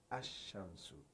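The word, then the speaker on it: الشمس: Example: when you say al shams, the sun is pronounced ash-shamsu.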